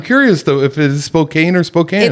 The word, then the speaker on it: Spokane: cues from you on how to enunciate and pronunciate things and you could cut this out if you want to you said Spokane yeah oh Spokane is it Spokane or is